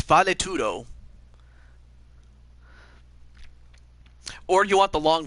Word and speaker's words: Valetudo: It took me a while to figure out how to pronounce the name of this, but it's valetudo.